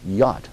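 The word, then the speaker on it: Iott: is a man named Rich yacht I guess you would pronounce it IO TT uh who had emerged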